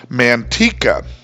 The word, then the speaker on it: Manteca: However, there's one thing that doesn't vary by region, that is that the word should be pronounced manteca in Spanish. However, in California, this town is called Manteca.